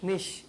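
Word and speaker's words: niche: নিশ। আপনি? নিশ। আপনি? নিচ। আপনি? আপনাকে বলছি। হ্যাঁ, ওকে, এটার সঠিক উচ্চারণটা আমি বলে দিচ্ছি। এটা সঠিক উচ্চারণটা অনেকেই করেছে, এটা হচ্ছে নিশ। উচ্চারণটা কি হবে? নিশ।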